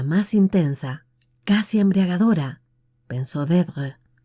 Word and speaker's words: Deirdre: Deirdre. Le dio un vuelco el corazón y se quedó inmóvil. Solo una persona había pronunciado su nombre de aquel modo, con un ligero acento en la primera sílaba que la convertía en una caricia.